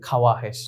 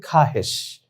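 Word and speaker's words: خواہش: মানুষের ইচ্ছা আকাঙ্ক্ষা চাহিদা খাহেশ বলে তো আমরা দেখি খে ওয়াও আলিফ হেশিন যদি আমরা স্বাভাবিক উচ্চারণ করি আমরা মনে হয় এরকম উচ্চারণ করব যে খাওয়া হেশ না এটা ভুল মূলত শব্দের উচ্চারণ হবে খাহেশ তারপর আমরা দেখি খোদ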